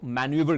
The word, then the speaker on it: manoeuvre: जी हां, इसको हम लोग मैन्यूवर कहते हैं। प्रोनाउंसिएशन पे बेसिक ध्यान देंगे।